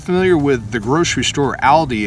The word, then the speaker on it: Aldi: i call it aldi because it's a-l if you meet a guy named al how do you spell his name a-l right well the word